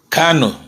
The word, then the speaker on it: Kanu: i conflict those twos cano is the real pronunciation so when i look